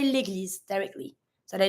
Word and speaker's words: l'église: You know that when you have an S between two vowels, the S is going to be pronounced like a Z sound. When you have the double S, like the one we saw earlier, double S, S sound. One S between two vowels, Z sound.